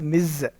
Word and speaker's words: Ms: not you use Ms you should pronounce it as Miz okay Miz right next let's